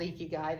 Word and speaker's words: ikigai: it fascinated me we have this thing called ikigai it is called ikigai that's exactly how you pronounce it and it talks about your reason